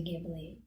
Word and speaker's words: Ghibli: what jubilee it's jubilee i like to say gably but the japanese pronounce it ghibli okay i just want